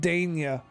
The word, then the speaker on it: Dania: It's pronounced Dania. Dania.